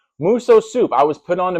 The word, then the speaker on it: Musosoup: And today we are talking about muso soup. Not miso soup if you like Chinese food. But no, muso soup. That's muso and soup spelled like soup. S O U P.